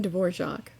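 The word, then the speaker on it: Dvořák: one may state that the composer's name should be accented on the first syllable antonine dvorac 1841 to 1904 showed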